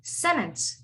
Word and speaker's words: sentence: a weird one um you would say this as sentence sentence the t is not pronounced it's sentence can you guys all